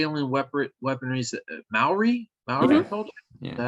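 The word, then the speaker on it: Māori: cultures, but would you say alien weaponry is Maori culture?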